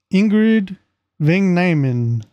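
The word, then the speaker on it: Ingrid Vang Nyman: How do you pronounce her name? Hold on. Ingrid Van Nyman. There you go. Ingrid Van Nyman.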